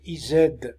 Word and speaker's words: is: n'avez qu'à la lire il se prononce i Z avec Z à la fin sauf it avec un